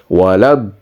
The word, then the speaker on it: ولا الضالين: tell first there was a big madda and then there is a shadda, hence it sounds like this. So it is a waladdallin.